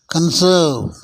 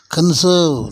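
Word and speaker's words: conserve: கிடையாது நவுன்லயும் உச்சரிப்பு கிடையாது கன்சர்வ் அப்படின்னு சொல்லணும் கான்சர்வ்னு சொல்லக்கூடாது கான்சர்வேஷன் அப்படின்னு சொல்லணுமே தவிர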